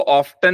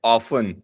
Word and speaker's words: often: Always, never, sorry, ऑफन, इसको ऑफ्टन नहीं बोलेंगे, OFTEN, इट्स ऑफन, T silent है, ऑफन मतलब अक्सर, और कई बार आता है जैसे समटाइम्स।